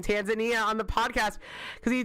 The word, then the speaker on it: Tanzania: Okay, so Sun heard a person say Tanzania. Almost everybody here agrees Tanzania is Tanzania, correct?